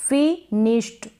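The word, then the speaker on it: finished: कम sound आएगा इसका इसको आप पढ़ेंगे फिनिश्ड क्या पढ़ेंगे फिनिश्ड अब यहां पर ड आपको लग रहा है लेकिन नहीं जैसे कि एस एच अगर एस एच आएगा अगर एस एच आएगा तब भी हम ईडी को क्या पढ़ेंगे आधा ट पढ़ेंगे वॉइसलेस होगा वो मतलब थोड़ा ही साउंड आएगा फिनिश्ड इसको फिनिश पढ़ेंगे यानी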